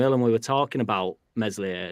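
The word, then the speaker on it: Meslier: we were talking about Mesley silent s and uh he were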